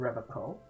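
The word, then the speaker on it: Revachol: his he pronounces revon with a hard K unlike other people yeah serious question time this man is no innocent no one is you said re Cole I like to pronounce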